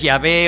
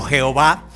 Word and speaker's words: Yahvé: Yo soy es Yahvé o tetragramatón, se llama eso, de 4 letras, pero bueno, para que se pueda pronunciar entonces es Yahvé o Jehová.